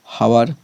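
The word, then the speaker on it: hour: ये भी हावर, एच ओ यूर, इससे पहले भी एन लिखा हुआ है। क्यों लिखा हुआ है? क्योंकि जो हावर है इसका भी सबसे पहले इसका उच्चारण ओ में आ रहा है, हावर, एच ओ यूर हावर, इसलिए यहाँ पर क्या लिखा हुआ है? एन।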